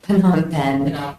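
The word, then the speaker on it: Phnom Penh: I'm sorry how do you say that again Pon pen yes and those look like they're boarding passes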